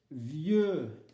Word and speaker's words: vieux: Attention avec vieux et vieille, qui sont des synonymes. Âgé ou vieux et vieille, synonymes. Vieux, prononciation, le X ne se prononce pas.